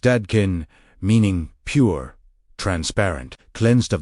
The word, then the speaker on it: Dadkein: The invitation of Dadkein, pronounced Dadkein, meaning pure, transparent, cleansed of distortion, is not to reject the world, but to cleanse the lens through which we experience it.